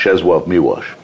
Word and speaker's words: Czesław Miłosz: It's because I pronounce it as the Poles do, because yeah.